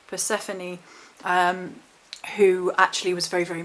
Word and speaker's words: Persephone: And it's actually Hades' wife, now I've got this written down because I always pronounce this wrong, Persephone, who actually was very, very moved by the